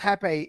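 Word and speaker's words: rapé: So rape, pronounced hape, is traditional stuff.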